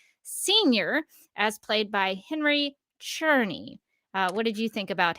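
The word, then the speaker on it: Czerny: man Winslow's shot senior as played by Henry cherny what did you think about him I'm so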